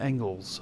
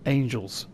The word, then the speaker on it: angles: only the lines and angles of your mind. Okay, so it's angles of the mind, not angels of the mind. Angles. Gotcha. I was saying it wrong this whole time.